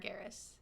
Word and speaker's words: Sargeras: Sargeras.